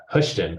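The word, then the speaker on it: Houston: brazzleton is is uh hushon which if you look at it's like h u s t o n which they have some crazy pronunciations here in Georgia uh here and nor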